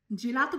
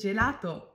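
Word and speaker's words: gelato: Next, কোক্কোলাতো উচ্চারণ করলেন, এটা হবে চোক্কোলাতো। নেক্সট, জেলাতো বলেছেন, রাইট, এটা তো জেলাতো।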